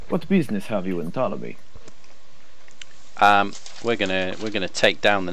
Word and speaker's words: Ptolemy: The P is silent, correct? It is. So yeah. But like that is pronounced it. Or Ptolemy. Yeah, I'm looking for a guide to Ptolemy.